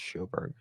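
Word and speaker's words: Sjoberg: Joanna, I don't know how to pronounce Schoberg. I think it's Schoberg.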